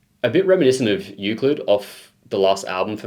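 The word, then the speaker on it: Euclid: Like I didn't know how to pronounce Uklid when I first heard it. I used to call it Uclid until the boys corrected me, but Uklid.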